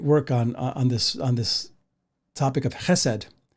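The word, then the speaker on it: חֶסֶד: And that word is simply this, chesed. And my Hebrew friends taught me how to say it. It's a guttural kind of pronunciation, and the emphasis is on ch, like chesed, like you're clearing your throat almost.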